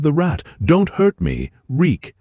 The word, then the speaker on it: Reek: My name is Reek. It rhymes with leak.